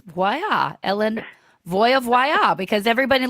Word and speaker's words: Voie: And in Norway, it's spelled WOIE, but it's pronounced Voya. So it's very Norwegian. It's not French.